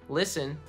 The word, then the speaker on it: listen: Listen. The T silent there. Listen.